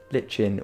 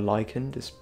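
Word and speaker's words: lichen: these are actually the glow litchin or lyen depending on how you like to pronounce that uh but I have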